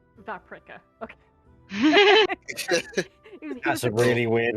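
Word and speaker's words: Vaprik: p r i k oh like paprika except V vpra okay that's a really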